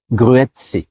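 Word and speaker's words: Grüezi: Ils vont dire gruette gruette grette.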